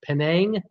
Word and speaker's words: Penang: it's 21st busiest in the world it's pronounced pronounced Penang and I'm gonna give that to whoever gave